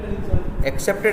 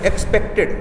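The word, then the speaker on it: expected: एक्सेप्टेड नहीं, एक्सपेक्टेड। देखो accept है, एक्सपेक्ट, दो वर्ड बार बार मिलेंगे, इसलिए इनका प्रोनाउंसिएशन जो है वो सही कर लेना।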